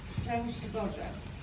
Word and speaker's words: Szczęść Boże: And the crowd of you, it's very difficult word to be pronounced. You have sh, sh, ow, sh, sh, together, disaster.